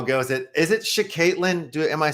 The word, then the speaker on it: Shaktilyn: It's Shaktilyn. Shaktilyn.